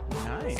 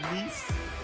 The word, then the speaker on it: Nice: Nice.